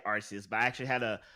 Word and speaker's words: Arceus: for the international crowd they didn't like the idea of people saying arse for you know for the obvious reasons so they they went